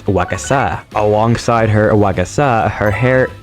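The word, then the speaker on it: 和傘: Kasa-Obake Piper addresses Piper in a beautiful kimono while carrying a gigantic paper umbrella, which is actually pronounced as wakasa.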